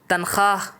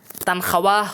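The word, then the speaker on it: تنخواہ: এরপরে হচ্ছে তানখাহ, তানখাওয়াহ হবে না, উচ্চারণে ওয়াওটা আসবে না, লেখায় ওয়াওটা আসবে।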